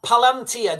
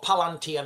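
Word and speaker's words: palantír: Um, pal palantia. Do you guys know what palantia means? The palantia. Palantia. It's correct pronunciation.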